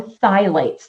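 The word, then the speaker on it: phthalates: biggies no pegs no thights the p is silent thight okay um no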